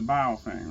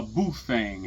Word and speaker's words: Baofeng: going to fit the Baofeng, right? A Bufang, however you want to pronounce it. Baofeng, Bufang. Everybody pronounces it different.